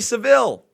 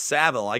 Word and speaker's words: Savile: what jim did old jimmy seville it's savile i get that a